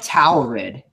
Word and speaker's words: Taurid: It's like Taurid. That in Latin, you say it like Taurid. So it's a Latin name. So tower with red.